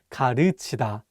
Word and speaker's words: 가르치다: One more time, it's not pronounced 가르치다, but 가르치다. Again, this vowel 으 is much wider than the vowel 우.